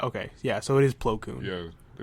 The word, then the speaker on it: Plo Koon: you pronounce it, but it's only one O in the... In the cartoon, they pronounce it Plo Koon. Okay, see that? Okay, yeah, so it is Plo Koon.